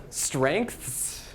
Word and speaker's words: strengths: Look at this-- strengths? That's just awful. There's even like a hidden K in there when you pronounce it we don't write.